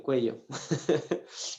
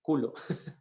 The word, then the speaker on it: cuello: tenía algo en el cuello y lo malo es que la palabra cuello si tú la pronuncia es mal suena culo entonces yo le dije